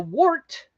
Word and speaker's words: wort: it's actually pronounced wort, like W-E-R-T, but it's spelled wort. But it's spelled wort, W-O-R-T.